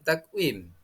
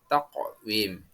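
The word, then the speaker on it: تقويم: Nah, selanjutnya anak-anak, yang keempat, contoh yang keempat, bacaan takwim. Cara membacanya yang benar adalah memantul atau qalqalah, yakni taqwim.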